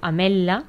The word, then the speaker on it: ametla: La TWL, que és com s'escriu ametla, es pronunciaria com una L geminada. Ametla, sense pronunciar la T.